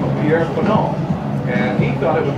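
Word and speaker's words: Faneuil: Of course, here, people say Fanon or Fanon or Fanon Hall, and, you know, they go through all kinds of stuff. But the French pronunciation is more like Fanon.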